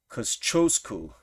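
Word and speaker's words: Kościuszko: It's Koschosku, and he actually was an engineer and came over here and created forts in order to defend places.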